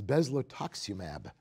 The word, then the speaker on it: bezlotoxumab: there was a drug aisle I had trouble pronouncing and here it comes it's bezel Taksim AB that's a biologic anybody familiar with that it